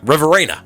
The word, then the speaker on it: Riverina: Riverina? Riverina, my bad.